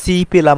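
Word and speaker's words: 집: restaurant সিকতাং restaurant তারপর আসি জিপ বলে অনেকেই কিন্তু এটা সঠিক উচ্চারণ সিপ অর্থাৎ বাড়ি কারণ আমি আগেই বলছি জিও সিওত এগুলো শব্দের শুরুতে বসলে সবসময় স এর মত উচ্চারণ হয়ে থাকে তারপর আসেন খিসুকসা গিসুকসা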